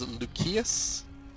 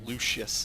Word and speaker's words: Lucius: Every single other C here is pronounced as a hard C, but of course Lucius is not.